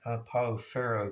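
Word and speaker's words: Pau Ferro: po which I believe a guy from Brazil chimed in once and said it's called Uh Pao I believe that's how you pronounce it but anyway um in the states we call it po pharoh because we see the the two RS so uh turned out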